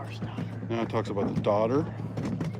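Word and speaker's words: dodder: Now it talks about the daughter. See how it's spelled? It's not like like daughter as in son and daughter. It's D O D E R.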